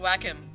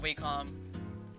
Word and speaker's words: Wacom: by uh vacuum anymore it's pronounced Wacom by the way not Wacom stupid I know yeah if